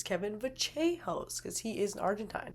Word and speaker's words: Vallejos: So, that is a distinct feature where those double L's make a little bit of a different sound, so it's not Kevin Vallejos, it's Kevin Vachehos, cuz he is Argentine.